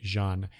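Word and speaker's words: J'onn: John I said John it should be Jean that's the the that's the pronunciation of his his first name that I prefer um from the Justice League animated series but I know a lot a lot of people just call him John Jones I I prefer Jean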